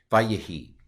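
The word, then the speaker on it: וַיְהִי: So the way you pronounce this is va-yahi, va-yahi.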